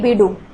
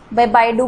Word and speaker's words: BeiDou: ठीक है, तो चाइना का अपना नेविगेशन सैटेलाइट सिस्टम है ये बीडू, बाइडू बोल सकते हैं इसको, जो भी है, काफ़ी जगह अलग अलग नाम से बुलाया जाता है।